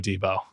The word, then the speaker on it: Deebo: do particularly like and his name rhymes with Tebow Samuel mmm oh Deebo oh t buddy buddy